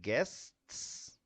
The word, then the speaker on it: guests: Um well, I'm going to say the first word is like kind of difficult to pronounce. is mostly difficult because of consonant consonant consonant. So we have three consonants at time.